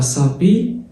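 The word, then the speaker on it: s'habiller: الأبوستروف بتتكتب بس تبقى اس، الأش ما بتتنطقش كده، وحط الآ تبقى ساب. جميل. ال بقى يا باشا لو جيت بحرف الآي وحرف الإي ما بيتنطقوش تبقى سابي. والأو ار في الآخر، الأو ار في أي كلمة فرنسية بتتنطق إيه؟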